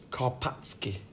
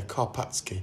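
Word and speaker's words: Karpacki: it's from poland and with my limited understanding of the polish language i think it's probably pronounced karpatsky kopsky kopp yeah karpatsky well it's a nine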